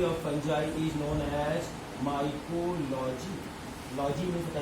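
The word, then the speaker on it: Micheli: Spelling लिखना माइचेली, ठीक है, पढ़ना लेकिन माइकेली।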